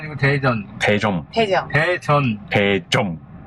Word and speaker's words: Daejeon: (Hàn Quốc) Daejeon… (Hàn Quốc) Thực ra phát âm là 'Tae-jŏn!'